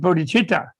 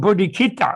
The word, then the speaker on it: bodhichitta: me really mad because they write it with a c in english yeah and in english to see you don't pronounce cha you have either but not so they everybody's missed going bodhikita all the westerners yes yes